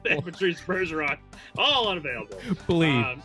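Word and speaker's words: Blidh: Bleed. It's pronounced bleed, basically. Blythe?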